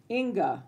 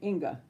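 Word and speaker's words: Inge: Do you pronounce it Ing? I-N-G-E? I don't want to get it wrong. Inga. Okay, Inga.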